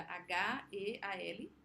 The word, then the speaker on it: Heal: Tem um que acabou de sair agora no Netflix, que é Heal, de cura, H-E-A-L, Heal, assim que pronuncia, meio um L aqui assim.